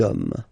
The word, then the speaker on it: hommes: You don't pronounce it, so you get des hommes, des hommes, des hommes.